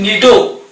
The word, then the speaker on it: cnido: नेमाटोलॉजी then पिले eighty देखो spelling CNIDO don't confuse it इज निडो सी उच्चारण हो ना निडोलॉजी स्टडी ऑफ सिलिंडरेट्स